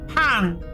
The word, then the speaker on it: pain: The French word for bread is pang, but it's spelled p a i n.